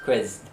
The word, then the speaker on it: Krezk: So Darian's obviously getting more and more anxious because he wants to get to Crest, right? Krez. Crest. It's spelled Krezk.